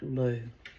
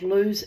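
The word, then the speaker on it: Lugh: So, I'm not sure if I've pronounced it correctly, but I think it's pronounced like Lou.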